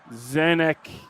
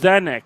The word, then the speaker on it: Zenk: Andre with 71, Zenk with 69, Guy Lavon with 44, Jen's with 31, and Marco 24. does appear that his name is pronounced Zenk. Zenk Zenk.